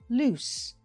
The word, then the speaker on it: loose: Listen, lose, loose. You can probably hear one has a Z sound and the other has an S sound.